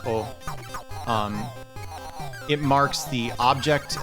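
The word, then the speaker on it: を: use of the um oh particle you'll sometimes see it romanized as w-o which reflects how like it's written in kana but the thing about it is um it's pronounced oh um it marks the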